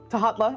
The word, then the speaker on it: Tahatla: And Tahatla, I immediately called you Thala. I'm so sorry, Tahatla.